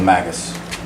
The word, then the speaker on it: Magus: Is it US or OS? US. US. So Magus. Okay. Because if it was OS, it'd be Magos. Okay.